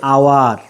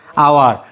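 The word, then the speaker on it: hour: এইচ আছে, কিন্তু এইচের উচ্চারণ হচ্ছে আ, অর্থাৎ কি হচ্ছে? আওয়ার, আওয়ার।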